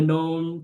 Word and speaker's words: Gnome: He's like Yeah, blah blah blah blah Gnome blah. King. Yeah, except not with a G.